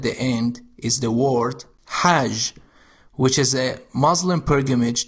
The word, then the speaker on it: ح: The sound Ha is pronounced deep in the throat and has no English equivalent. It sounds raspy, similar to the sound you might make when trying to fog up a glass by breathing on it.